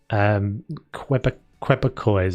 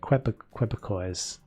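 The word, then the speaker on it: Québécois: Is called it's spelt Quebec with an O-I-S-E or something like that on the end of it. Quebecois.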